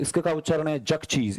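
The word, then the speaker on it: Xerxes: "आपका उच्चारण क्या है ?" फिर उन्होंने कहा कि इसका उच्चारण ज़ेरक्सेस है।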